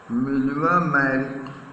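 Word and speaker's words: Mileva Marić: He also felt a special interest, felt me took He also took a special interest in a fellow student, Miliva, pronunciation Miliva Merrick, whom he found to be a clever creature, चतुर प्राणी, clever creature, चतुर प्राणी, और Serbian था.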